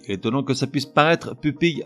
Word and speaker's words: pupille: Aussi étonnant que ça puisse paraître, pupille à l'origine se prononçait pupille, comme facile ou fournil. Or, compte tenu de son orthographe, P-U-P-I-2-L-E, les gens ont commencé à dire pupille, et aujourd'hui c'est la prononciation communément admise, mais pupille n'est pas incorrect et ça fait très chic.